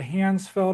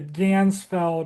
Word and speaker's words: Ganzfeld: Uh the the Ganzfeld experiment. I've been calling it the Handsfeld experiment, but I got so much stuff that